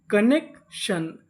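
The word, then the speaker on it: connection: अगर आपको इंग्लिश की किसी भी मीनिंग में कोई अक्षर 2 बार लिखा मिले तो हम लोग उसका उच्चारण एक बार करते हैं। कहने का मतलब पढ़ते एक बार है। यहाँ पे N 2 बार लिखा है, उच्चारण एक बार किया जाएगा।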